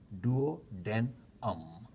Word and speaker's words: duodenum: It is written as D-U-O, like duo, D-U-O-D-E-N, duodenum, U-M, but pronounced as duodenum, D-W, all right?